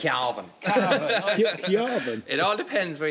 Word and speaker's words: Cavan: I can never know how to pronounce it. Cavan. It's Cavan.